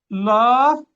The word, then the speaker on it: الله: نلاحظ أن كلمة الله الأصل أن يكون فيها ألف هنا، واضح الألف؟ نعم. لكننا حذفناه في الكتابة فأصبحت هكذا. وأيضا كلمة لكن تنطق هكذا ولا تكتب هكذا، ولكن تكتب هكذا لكن.